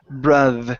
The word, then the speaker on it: brother: word here is brother give me a good T here instead of brother brother make sure your tongue is between your teeth brother brother good there